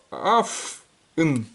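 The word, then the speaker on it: אויף: Вот, ну, можно и аф, это, вы помните, что в вестерн-идише аф читается, а пишется как ойф. Смотрите, его не прочитайте как ойф, бо это будет колхоз. Это самое, сразу все потилицю зачухают.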